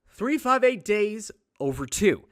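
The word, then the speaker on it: 358/2 Days: 358 days over 2. That's how you say it.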